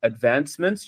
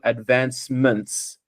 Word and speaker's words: advancements: One thing I noticed is when you read advancements, you actually dropped the S on the end. I don't know if you're aware. So you just need to be careful when you're reading to pronounce every syllable in the word.